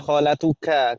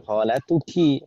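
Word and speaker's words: خالتكِ: Di sana tadi khalatuki, ki kita bacanya ki karena yang diajak bicara Maryam. Maryam itu muannats ya kan Ibu ya? Ya. Jangan dibaca khalatuka. Kalau ka untuk mudzakkar, khalatuki perubahan dari anti, ya kan ya?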